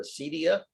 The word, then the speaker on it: acedia: it's a greek word i think and i'll spell it a-c-e-d-i-a-a-sadia or acedia and it means spiritual torpor you sort of